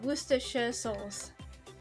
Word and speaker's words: Worcestershire sauce: And it really, again, it's one of those words that are pronounced nowhere near how it's actually spelled.